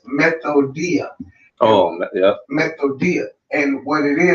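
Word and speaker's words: μεθοδεία: It's G3180, and the way you pronounce it, it says methodia.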